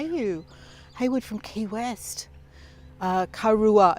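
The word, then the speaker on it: Karuah: We're here in a town called Karua, which is spelled K-A-R-U-A-H, Karua, which is a small town just north of Newcastle.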